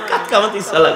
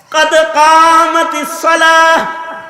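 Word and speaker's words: قد قامت الصلاة: হ্যাঁ, পাদ কামাতিস সালাহ উচ্চারণ হয় না, কাত কামাতিস সালাহ কয়। কি কয়? হ্যাঁ, এই মিয়া কি কয়? কাত কামাতিস সালাহ, কাত কামাতিস সালাহ, কাদ কামাতিস সালাহ।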